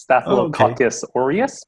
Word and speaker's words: Staphylococcus aureus: check it's called uh is that the correct pronunciation uh you're really close it's staphylococcus aureus but okay cool yeah you know i don't